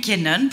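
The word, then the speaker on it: Nykänen: qu en fait personne ne savait comment disons-nous kenan pour respecter la prononciation c'est l'histoire de l'ascension fulgurante et de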